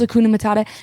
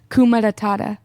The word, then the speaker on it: Hakuna Matata: No, you always say that wrong. He can't say Hakuna Matata. Hakuna Matata. That's what he was trying to say. You say it boring. That's how it's said, is Hakuna Matata. Manny says Kuma Matata.